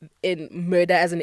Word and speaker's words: Mörda: How do you pronounce it? Murder.